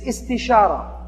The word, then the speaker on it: istishara: The second step of a decision-making process is istishara. It sounds kind of like it rhymes with istikhara, is because it comes